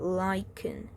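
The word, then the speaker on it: lichen: on him frank glowing this is pronounced at liken okay first glow item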